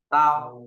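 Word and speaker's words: 刀: Bộ đao nó về cái dao, đọc là gì? Tao.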